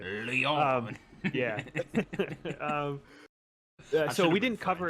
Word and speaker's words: Lyon: I'm actually happy you even pronounced it correctly. Lyon.